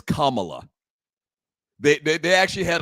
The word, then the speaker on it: Kamala: here's the crazy thing she pronounced her name wrong 10 times just now it's kamla they they they actually